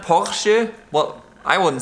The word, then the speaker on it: Porsche: The correct way to say it is Porsche. Porsche. So the R is like silent. Porsche. Not Porsche. It's Porsche. Show me the R. Slight difference. It's not Porsche.